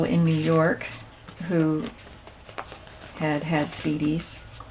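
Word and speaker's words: spiedie: New York who had speedies. So it's spelled S-P-I-E-D-I-E. It's not like speedy as in fast. It's Italian.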